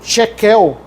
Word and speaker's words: tequel: Aí quando a gente for para agora tequel, que também se pronuncia no no aramaico chequel, é a basicamente a sexagésima parte de uma mina.